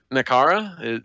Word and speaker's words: Nakara: Nakara? Is that even how you pronounce that?